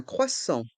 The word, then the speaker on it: croissant: rie des viennoiseries un croissant un crois s il y a deux s donc on prononce bien les S le a et le